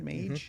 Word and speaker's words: Mage: Mage?